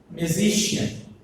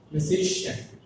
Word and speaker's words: musician: For example, musician. What is that? Musician. The musician has 4 syllables. There are M-Z-C-N. Right? The 3rd syllable is the Z. So, the stress falls on the Z.